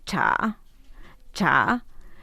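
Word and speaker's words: 茶: re es caliente y T T se dice cha cha entonces agua se dice shue agua caliente es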